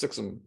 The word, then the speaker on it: SXM: It's pronounced Sixum. It's the SXM. It's the airport code.